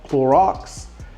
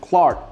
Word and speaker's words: Cloarks: So this is called Cloarks. I've seen people pronounce it Clark, but that's not Clark.